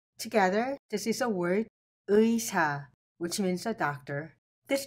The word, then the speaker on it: 의사: Together, this is a word uisa, which means a doctor.